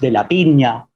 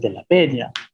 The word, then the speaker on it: Peña: Por ejemplo, mi apellido no es de la piña, es de la peña. Piña es otra palabra, peña es otra.